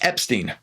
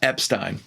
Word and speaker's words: Epstein: It says, Brian made clear that he preferred Ep-steen rhyme with teen, not with fine.